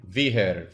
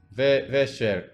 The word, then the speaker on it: вечер: Oh, the upside down H is a Che. Yeah. Okay. And it's always pronounced like Che.